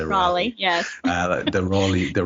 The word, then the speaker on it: Raleigh: shout out to the let me get the pronunciation rawley i would say raleigh yes uh the royally